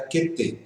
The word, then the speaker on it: Qt: Qt é a pronúncia indicada pelos desenvolvedores, pelos criadores dessa biblioteca. Qt, para relembrar a palavra em inglês cute, que quer dizer fofo, bonitinho.